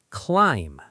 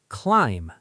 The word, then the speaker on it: climb: Climb. Say it. Climb. Silent B.